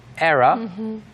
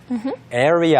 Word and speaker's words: era: Not area, era. Era. era. Like air, air, 공기, Yeah. Era. era 또는 era라고 발음하는 사람도 Right? 있습니다. Not error, error. 아. Not error. So if you say area or error, that's an error.